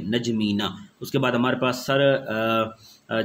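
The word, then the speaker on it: N'Djamena: Abuja और chart का capital हमारे पास है नजमीना सर क्या है नजमीना प्रोनाउंस कर ले नजमीना उसके बाद हमारे पास सर जो कार आ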